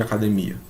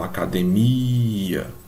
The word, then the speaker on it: academia: Qual é a sílaba tônica de academia? Ó, academia demora mais na última aqui, né? Ó. Mia, academia. Essa que demora mais.